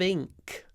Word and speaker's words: ink: ink ink ink ink open your mouth don't say ink ink ink with the in sound tip of your tongue behind your bottom teeth ink ink it's run